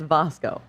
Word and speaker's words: Vasco: And it's Vasco, Apparently, it's Vasco. not Vasco. I tried with the hard "a," and I was corrected that it is Vasco. Vasco, Okay. like Vasco de Gom.